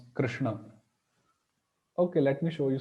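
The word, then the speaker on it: कृष्ण: opt for it generally uh so but actual pronunciation should be Krishna Krishna so yeah like that we can try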